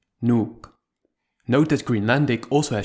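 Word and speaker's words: Nuuk: to a syllable OU the word nuke which is the capital of Greenland contains one long vowel with two surrounding consonants so it only has one syllable nuke note that greenlandic also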